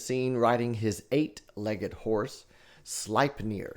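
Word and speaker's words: Sleipnir: So a lot of times Odin is seen riding his eightlegged horse, Slipeneir. Slipnir. Now that's spelled s l ei p n i r.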